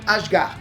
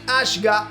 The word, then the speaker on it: Ashgar: Zayin Ashgar, don't confuse Ashgar with Asgard, no, his surname is ASHGAR, right? Looks like it, right? Phonetically it's the same thing, but anyway.